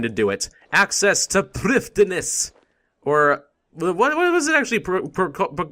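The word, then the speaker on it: Prifddinas: It's actually like Prifdinas or something like that. Prifdinus, or something like that. It's a weird name. Apparently it has a slightly different pronunciation in Welsh or something.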